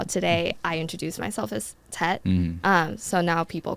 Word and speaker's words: Htet: Htet. The H is silent.